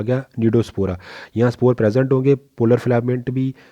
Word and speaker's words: Cnidospora: जो तो हमारे पास हमारे तीसरी जो हमारी सब फाइलम आ गया नीडोस्पोरा, सी साइलेंट है इसमें, NCNIDOSPORA, नीडोस्पोरा।